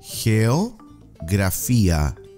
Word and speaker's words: geografía: Geo. Grafía. The G here sounds like a H. Geografía.